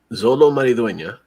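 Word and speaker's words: Xolo Maridueña: um yeah uh zolo mariduena that's that's how you say his name that's spanish um uh yeah it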